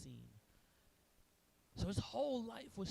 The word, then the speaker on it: Sin: is her name spelled like sin but it's pronounced scen so his whole life was centered around this